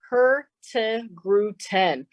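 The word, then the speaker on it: Hurtigruten: I'll say that one more time very slowly her to grew 10. so everybody can practice that at home and and be able to to pronounce that like a like a Norwegian expert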